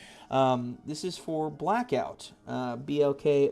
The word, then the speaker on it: BLKOUT: Um this is for Blackout. Uh Blk O T is how they spell it.